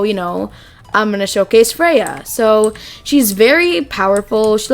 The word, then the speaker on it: Freyja: is spelled f-r-e-y-j-a but her name is actually freya um or as people said in their discord server it's freya um but yeah so